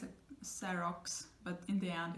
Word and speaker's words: xerox: But just remember, so in the beginning, it's going to sound like an s, one sound, because in Spanish it's not really natural to give you like 2 sounds in the beginning.